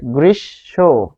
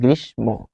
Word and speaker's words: গ্রীষ্ম: শেষে সরেও থাকার নিয়ম তাই এটি হচ্ছে গ্রীসব কিন্তু আমরা বলি কি গ্রীষ্ম এই জায়গাতেই শিক্ষার্থীরা ভুলটা করে কারণ আমরা নিয়মটা না